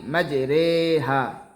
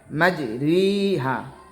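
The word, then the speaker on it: مجريها: আর শুধুমাত্র পবিত্র কোরআন মাজিদে এক জায়গায় ইয়ায়ে মাজহুল উচ্চারণ হয়। যেমন পবিত্র কোরআনে আমরা জেনেছি বা আমরা শুনেছি পবিত্র কোরআনে আছে বিসমিল্লাহি মাজরেহা এখানে মূলত উচ্চারণ হবে মাজরিহা তবে এখানে এই ইয়ে মাজহুল উচ্চারণ হবে বিসমিল্লাহি মাজরেহা সম্মানিত দর্শক এত সময়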